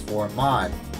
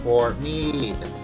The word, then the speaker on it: Fort Meade: Someone who recently just made the 17 series video accidentally pronounced this as Fort Maud. Well, let me tell you something, that person. It's pronounced Fort Meade.